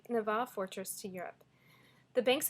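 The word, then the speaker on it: Нева: Then ships could sail from the little Neva, is how you say it in Russian, Neva fortress to Europe.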